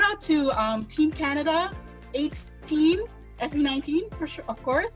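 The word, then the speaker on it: A'TIN: mean okay so it's spelled a apostrophe t-i-n pronounced as the number 18 because i'm remembering that's 19.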